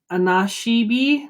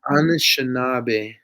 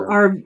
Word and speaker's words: Anishinaabe: So I'm going to pronounce this wrong. Anashibi? No, that's not the name of the school. Anashiba? Anishinaabe. Anashinabe. Okay, Yeah, yes. So Anishinaabe.